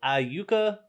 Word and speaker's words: Iuka: it like that because I'm used to saying Iuka Mississippi and and just general talk that's if you ask me where I was from I'll tell you I Yuka Mississippi just like it